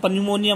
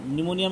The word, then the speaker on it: pneumonia: में पन्यूमोनिया मत बोल देना, निमोनिया में पी साइलेंट होता है।